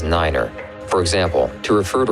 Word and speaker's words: niner: at a time and pronounce the number nine as niner for example to refer